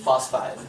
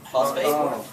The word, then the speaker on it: phosphide: It's not phosphate, right? Like, I love him, but I hate him. It's And he keeps saying it wrong. So he wants to be real mean, get on my YouTube. He's so nice in the comments. He's Phosphate's something different.